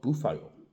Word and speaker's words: búfalo: Sorry, I should not say buffalo. Boufo is the Spanish pronunciation.